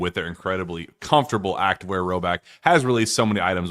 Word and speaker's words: Rhoback: Roback has released so many items within their new licensed game day collection.